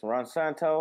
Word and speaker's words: Ronsanto: I've got my friend Ronsanto. Did I pronounce it right? Yes, Ronsanto, or you call me Santo.